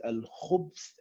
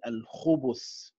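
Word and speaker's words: الخبث: It is read as al-khubth and al-khubuth. Al-khubth and al-khubuth.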